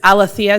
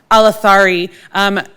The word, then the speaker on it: Alathari: And it's Alethea, did I say it correctly? Alathari.